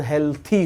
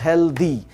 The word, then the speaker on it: healthy: इसका right pronunciation हेल्थी होता है, इट्स नॉट हेल्दी।